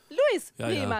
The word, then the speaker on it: Louis Prima: Nämlich ursprünglich durch Louis Prima. Keine Ahnung, ob ich es richtig ausgesprochen habe. Salva, hilf mir mal bitte. Louis. Oh, Louis Prima.